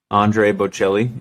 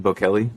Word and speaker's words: Bocelli: Bocelli what is it Andre Bocelli I think that's how you say it Bo Kelly Bocelli who's that you